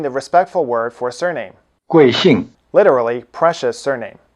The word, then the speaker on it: 贵姓: is by using the respectful word for surname, 贵姓。 literally precious surname. Both syllables have the falling tone. Try repeating it. 贵姓。